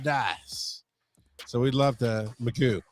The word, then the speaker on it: Magoo: So we'd love to, Magoo. It's Magoo, by the way, Joe. Did you know that? It's Magoo.